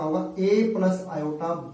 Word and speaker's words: iota: ठीक है, इसका प्रोनाउंसिएशन होता है आयोटा।